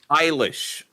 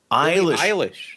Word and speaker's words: Eilish: How is it meant to be pronounced? Eilish. Eilish.